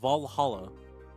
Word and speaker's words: VA-11 HALL-A: don't know don't care VA 11 Hall the name sounds silly and a bit hard to pronounce good thing it's actually called Valhalla va1 Hall is not